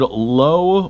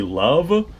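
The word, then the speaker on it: Loewe: can see it manufactured low Berlin l e we Berlin so I'm sure that I'm butchering that pronunciation because uh the W in German is pronounced like a V might be love I got no idea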